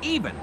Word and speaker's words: Evan: just said even weirder it's spelled like Evan but pronounced even even weirder Wally okay